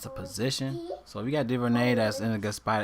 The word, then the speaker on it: Duvernay: I mean, you have Devin Duvernay, is how you pronounce his name, in a good spot.